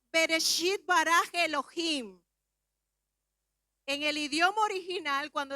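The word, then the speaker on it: בראשית ברא אלהים: Su pronunciación sería Bereshit bara Elohim. En el idioma original, cuando decimos en el principio creó Dios, esa fracción de palabra en el hebreo se pronunciaría Bereshit bara Elohim.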